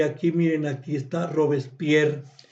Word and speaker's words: Robespierre: que pues dejamos a Robespier eh Muy entiendo que se dice Robespier, así lo hemos escuchado siempre, aunque se escribe Robespierre y lo dejamos muy mal parado y pues no nos quedamos contentos.